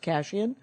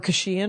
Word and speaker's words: Kashian: my sister that it was actually pronounced cash in or khushiyan or whatever the it